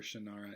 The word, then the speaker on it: Shannara: the wish song or the wish song of shannara shanara i prefer shannara i know i'm all about just pronouncing it the way that the author doesn't so that's how it